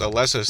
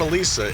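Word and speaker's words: Elesa: always says Alessa's theme, you got to tell how you pronounce it. Alessa. It's not Alisa, it's Alessa. I know it's stupid, but look at the way it's spelled. That's not Alisa. That's Alessa.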